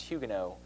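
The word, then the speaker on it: Huguenots: Protestants there are called Hugo spelled hugenots but pronounced Hugo and so if you were a follower of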